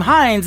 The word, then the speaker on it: Hynes: She is a great female country artist from Canada as well, and her last name Hines is spelled Hynes.